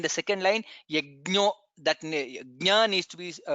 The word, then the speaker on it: यज्ञ: there is many times yajna is repeated. Please pronounce it correctly. Yajna, that's how it is pronounced.